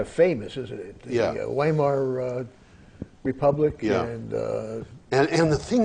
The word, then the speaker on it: Weimar: Well, that republic, Weimar, by the way, W is pronounced like a V.